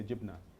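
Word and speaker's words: جبنة: And gibney is West Bank pronunciation. In Gaza we say jibna.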